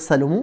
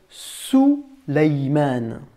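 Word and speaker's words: سليمان: Salomon en arabe, cela se dit, on ne va pas dire Salomon, on va dire Souleymane.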